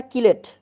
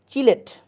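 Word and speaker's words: chelate: এডিটি বুঝলে হয়ে যাবে বলো চিলেট না কিলেট চিলেট একচুয়াল উচ্চারণ হচ্ছে চিলেট আমি তো তাই জানি ল্যাঙ্গুয়েজে ডিফারেন্স আছে আর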